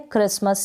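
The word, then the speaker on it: Christmas: फिर ये है क्रिसमस, यहाँ पर CH है, इसको आप क पढ़ेंगे, क्या रीड करेंगे क, और आर का आधा र बन गया, क्रिसमस है ये।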